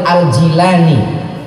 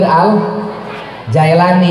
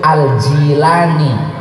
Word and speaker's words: Al-Jilani: Tantangan kita semakin berat, makanya Syekh Sultanul Auliya Syekh Abdul Qadir Al-Jilani, kita sering bacanya Syekh Abdul Qadir Al-Jailani ya. saya punya satu kitab 2 jilid tebalnya. Di sana disampaikan bahwa nama Syekh Abdul Qadir itu Al-Jilani bi kasril jim al-mu'jamah.